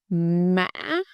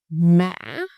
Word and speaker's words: mã: Why broken? Because you go down, stop, and then goes up again. It's almost like two syllables. Listen. Mã. Mã.